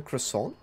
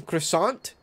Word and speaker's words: croissant: third freaking Bean yeah there's no T sound in croissant I disagree I disagree